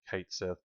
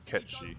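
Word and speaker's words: Cait Sith: it I'm calling them Kate Seth and then I finally realized it's actually Scottish and they've been calling it catchy it's based off um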